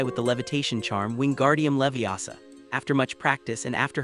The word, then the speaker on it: Leviosa: They were learning to make feathers fly with the levitation charm Wingardium Leviosa. After much practice, and after Hermione corrected Ron's pronunciation, it's Leviosa, not Leviosa, she was the first